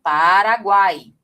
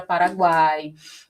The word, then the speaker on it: Paraguai: Olha aqui, o U é uma semivogal, porque ele tem o som mais fraco, né? Tanto que a gente pronuncia quase como se fosse uma coisa só, guai, guai, né?